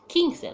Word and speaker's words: quince: It's like a K. The Q now sounds like a K. So it's quince, like king and queen.